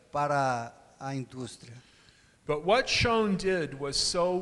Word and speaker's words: Schön: O Schön, e acabei de ser corrigido na pronúncia. Schön. Schön.